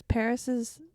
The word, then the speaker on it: PVRIS: So then I listened to Paris all day. Very nice. For the longest time, I didn't know that's how you pronounce their name because it's PVRIS.